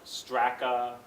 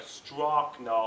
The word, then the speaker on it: Strakna: an ethnic name but it really is pronounced just like um the way it looks but people always mess